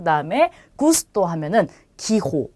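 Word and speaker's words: gusto: 자, 우선 뒤에 모음이 아, 오, 우로 오는 경우는 기역 발음이에요. 그래서 자, 이 단어는 가파스라고 읽고요. 자, 이 단어는 고르도라고 읽겠죠. 그 다음에 이 단어는 구스토라고 합니다.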